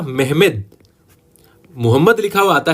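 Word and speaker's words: Mehmed: मोहम्मद लिखा हुआ आता है लेकिन सही नाम है उसका मेहमेद सेकंड, और इसको कई बार ये भी लिख देते हैं मेहमेत, क्योंकि इसका जो तुर्की में उच्चारण है वो मेहमेत होता है, इसलिए इसको मेहमेत सेकंड कहते हैं।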